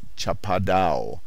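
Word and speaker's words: chapadão: known to the brazilians as chapadau pronounced almost as if it were a french word and spelled s-h-a-p-a-d-o our camp on the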